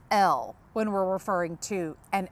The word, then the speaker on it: ell: It's L, it's spelled E-L-L.